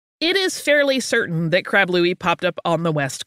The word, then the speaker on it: Crab Louie: with either spelling and it is pretty much always pronounced Crab Louie it starts with a